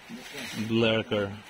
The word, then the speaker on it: Vleeracker: Seguimos con el tour en el quinto sol de Blerker. ¿Cómo se pronuncia tu apellido?